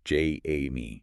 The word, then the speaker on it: Jaime: It's also probably worth mentioning, just for context and respect, as Amy shares this in their writing, their name is pronounced J-A-Me. Right, J-A-Me, and pronouns they, them, there.